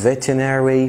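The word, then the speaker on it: veterinary: من كليه الطب البيطري، فاكولتي اوف فيتيناري، مش لازم تنطق الار الاولانيه، فاكولتي اوف فيتيناري ميديسن.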